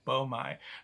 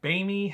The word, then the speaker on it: boehmei: the rocky palma beaumai yes you heard me correctly i said beaumai normally i'd say baini however uh i you know i got that from hearing other youtubers pronounce it that way i also uh